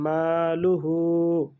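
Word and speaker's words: مَالُهُ: এক আলিফ টান হবে মাতে এক আলিফ টান হবে কারণ জবরের বাম পাশে খালি আলিফ মা আর লুটা তাড়াতাড়ি উচ্চারণ হয়ে যাবে মালুহু গোল হাতেও উল্টা পেশ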